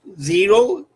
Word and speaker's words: gyro: Pronounced zero, spelled gyro.